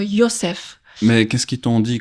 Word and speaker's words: Yosef: Et puis, il y a d'autres exemples dans la Bible, comme Joseph, qui doit être prononcé comme Yosef.